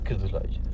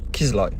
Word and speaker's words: Kızılay: En turc, c'est Kızılay. Kizlay. En turc, c'est Kizlay. Ouais, moi, on me l'a dit en turc. Je le prononce bien.